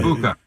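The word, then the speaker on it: Egbuka: But Igbuka, is that how you say his name? Igbuka? The receiver? Yeah. Igbuka.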